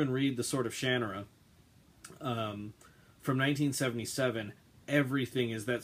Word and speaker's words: Shannara: And yes, it's pronounced Shannara because I was on stage with him and he corrected me about that, and I was moderating the panel.